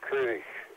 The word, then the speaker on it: Koenig: The one last thing is the Chekhov character, of course, originally played by Walter Koenig. Walter Koenig's parents, or Koenig, as the Germans would say, but he was